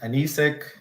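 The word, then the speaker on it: anecic: along with the soil layers and those are pronounced anisic endogenic and epigeic and then here are the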